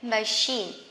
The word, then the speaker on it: machine: Can you see that the same CH, but this is machine and this is mechanic, okay?